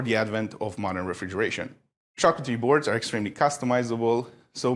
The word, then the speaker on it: charcuterie: Let's get into the charcuterie board for the evening.